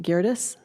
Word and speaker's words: Geerdes: I'm not sure if I'm going to pronounce it correctly. Is it Geerdes?